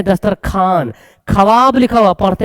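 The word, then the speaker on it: دسترخوان: है पढ़ते हैं खवाजा दस्तर ख्वान लिखा हुआ पढ़ते है दस्तर खान खवाब लिखा हुआ पढ़ते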